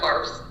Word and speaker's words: Favre: So ever since I can remember, like I remember as a kid asking my parents like how to pronounce Brett Favre's name, like because I would see it on the jersey.